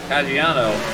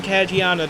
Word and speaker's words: Caggiano: Now Carter is under attack from Caggiano. I believe I'm pronouncing that right. Yes, you are. That is Ryan Caggiano, the Nitro National Series champion from a year ago.